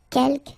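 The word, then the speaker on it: quelques: Uh keelk you don't pronounce the final s here. Kelk means few.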